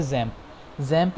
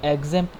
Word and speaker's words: XAMPP: जो हम यूज़ करेंगे इस अपने सीरीज़ में वो है जैम्प या एग्जैम्प, लोग इसे जिस तरह भी आप प्रोनाउंस करना चाहें।